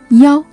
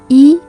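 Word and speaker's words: 幺: In real life context, you may hear some Chinese people pronounce the number one as ya instead of e, especially in a phone number.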